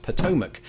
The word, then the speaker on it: Potomac: say with absolute confidence it is pronounced potomac if only our final